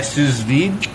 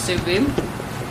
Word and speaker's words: sous vide: I'm pretty sure it's sous vide. I think it's pronounced sous vide.